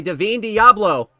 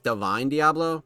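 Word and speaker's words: Divine Deablo: This time he is stuffed by Deavine Diablo. Apparently that's how you pronounce it. I I've been for the longest time I thought it was Devine Diablo because it's spelled like that, but whatever.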